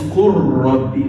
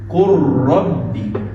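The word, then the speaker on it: قُلْ رَبِّ: It is qul and rabb, but complete idgham.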